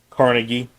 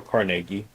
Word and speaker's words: Carnegie: So your industry magnates of the day, Carnegie or Carnegie, depending on how you want to pronounce his name, J.P.